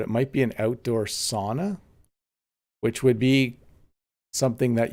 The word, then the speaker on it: sauna: finland by the way it's sauna is the normal english pronunciation but i have a friend from finland who says sauna or something like that where's latvia let's try